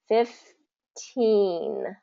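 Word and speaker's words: fifteen: with the the the the other difference is the stress so this is going to be first syllable stress and this is going to be second syllable stress so fif 50 15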